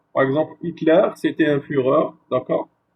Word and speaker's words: Führer: Führer, par exemple, Hitler, c'était un Führer, d'accord? Ces mots d'origine allemand est prononcé avec comme la Führer.